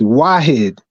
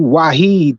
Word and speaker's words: Wahid: you say the name it's Wahid everybody keeps saying Abdul wahed but is Abdul wed Abdul because to say